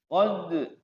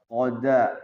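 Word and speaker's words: قد: Tapi kalau qalqalah sughra diwasol ataupun diwakaf tetap dia mantul. Qad nggak bisa qoda.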